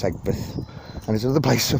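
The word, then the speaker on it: Aigburth: But Egbert looks like you pronounce it Aigbirth, but you don't, it's Egbert.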